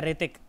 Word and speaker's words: ऋतिक: ऋतिक रोशन की स्पेलिंग बताओ, ऋतिक की स्पेलिंग बताओ। अबे KRI नहीं है ऋतिक, H से शुरू होता है, H से, Yes, sir.